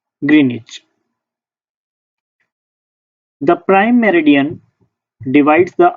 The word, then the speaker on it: Greenwich: Greenwich meridian, pronounced Greenwich.